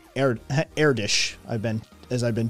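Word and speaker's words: Erdős: e r d o with um lots s airdish i've been as i've been told is the correct pronunciation on it um yeah e-r-d-o two dots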